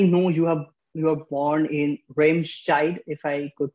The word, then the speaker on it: Remscheid: So like I know you are born in Remscheid, if I could pronounce it right. Yeah, so Remscheid, like, yeah.